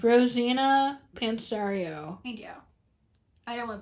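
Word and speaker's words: Rosanna Pansino: Yeah, it's Rosina Pansario.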